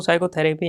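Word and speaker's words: psychotherapy: पी नहीं पढ़ेंगे तो साइकोथेरेपी यहाँ से यहाँ तक पूरा पढ़ लिया जाता है।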